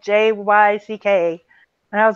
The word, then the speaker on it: Jyck: But it's Jyck is how you say it.